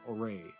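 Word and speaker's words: Ouray: O-U-R-A-Y, Oray, I assume.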